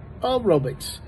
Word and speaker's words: aerobics: But then there's one I found is aerobics. Aerobic has the short U, aerobics.